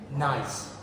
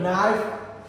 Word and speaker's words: gneiss: Wait, this is called gneiss, or a metamorphic rock. Yeah. A knife? No, not knife. This spelled like GNEISS.